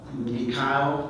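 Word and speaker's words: Meechaiel: suspect named Michael uh mik is the way he pronounces it spelled em as in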